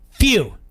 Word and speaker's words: Few: Rhymes with who? Few.